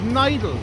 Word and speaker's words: Nidal: Nidal says, pronounced Nidal, long I.